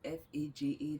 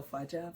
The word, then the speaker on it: faja: A faja is written F-A-J-A, that's the right pronunciation. No, faja, faja.